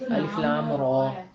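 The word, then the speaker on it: الر: الف لام میم را. نہیں الف لام را.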